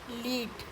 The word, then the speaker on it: lead: तो first लीड verb, she इज़ लीडिंग the parade, वो parade का नेतृत्व कर रही है, लीड।